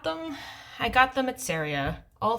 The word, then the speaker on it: Seria: Not to be confused with the country Syria. Saria is spelled Seria.